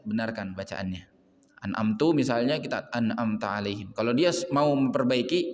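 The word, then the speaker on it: أنعمت: Contoh an'amta bacanya an'amtu. Ini jelas merubah makna. Anamta itu artinya engkau berikan nikmat. Sedangkan an'amtu aku berikan nikmat.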